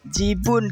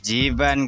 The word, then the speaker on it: Jiban: Jibun kan, cu. Jiban, kek. Kakek bacanya Jibun.